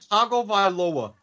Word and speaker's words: Tagovailoa: And wait till you hear Wait, how's it pronounced? Tagovailoa.